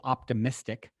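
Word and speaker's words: Optimystic: late night style show that i uh called optimistic spelled like m-y-s-t-i-c optimistic optimistic dot tv i have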